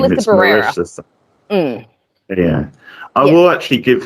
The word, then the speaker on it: Melissa Barrera: Is it Marissa Barbera, the Sam actress? I forget how you say her name. Melissa Barrera.